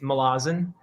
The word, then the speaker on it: Malazan: It's fine, however you say it, but I believe the way Erickson would say it is Malazan.